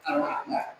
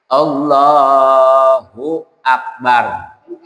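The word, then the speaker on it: الله أكبر: Harus ada kalimat hunya. Allahu Akbar. Kalimahnya tapi dia bacanya Allah Akbar. Allahu Akbar. Iya. Itu kudu dirapihin lagi. Iya. Heeh. Kalau seandainya azan yang seperti itu, tentu bacaannya juga salah.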